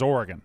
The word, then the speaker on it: Oregon: It is Oregon. An Oregon guy. Oregon. Your emphasis is on the wrong syllable.